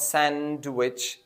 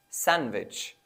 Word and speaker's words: sandwich: words such as sandwich so it's not sandwich it's sandwich or the other word